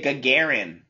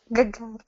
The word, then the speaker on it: Gagarin: Why did you say Gagarin? I use the American voice. Yes, I'm teasing. That's right. The Russian pronunciation Gagarin, is that right? Gagarin. Yes. Very good.